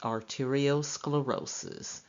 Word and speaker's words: arteriosclerosis: term used using sclero is arteriosclerosis it is pronounced arteriosclerosis and arteriosclerosis is defined as hardening of the